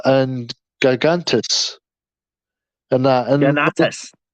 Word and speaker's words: Ganatus: romance between Barbara and Gagantis and that and Ganatus. Ganatus. That's the one. Yeah, that's how it's pronounced. Yeah. Ganatus.